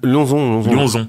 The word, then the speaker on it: Lionzon: Lionzon ou Lionzon? Lionzon. Ouais. Ok, c'est bon, à la française.